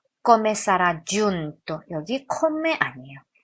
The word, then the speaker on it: giunto: 주 제가 지난번에 이탈리아노 G 발음하는 거 가르쳐 드렸는데 giunto 이런 발음이에요. giunto가 아니라 좀 더 깊이 나오는 발음입니다.